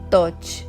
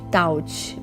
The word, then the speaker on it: Tot: A pessoa retratada aqui é um homem de nome Tot, pronunciado com longo o. Algumas pessoas dizem taut, mas a pronúncia é tot.